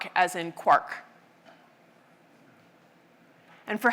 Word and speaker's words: quark: the illusion to three quarks seemed perfect. I needed an excuse for retaining the pronunciation quark despite the occurrence of mark, bark, and mark and so forth in Finnegan's Wake.